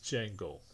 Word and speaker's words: Django: kind of name is jango he's like the d is silent like yeah i know